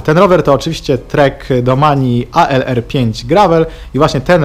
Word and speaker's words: Domane: Pamiętajcie, że te treki to nie jest domain, bo to jest zupełnie inne słowo. Ta nazwa raczej się wywodzi z włoskiego i panowie w treku wymawiają ją jako Domani, mniej więcej w tych klimatach.